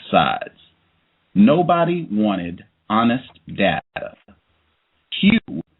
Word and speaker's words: Hugh: the character's name is Hugh now even think of that you got a white character named Hugh it's spelled h u g h but h u e think of that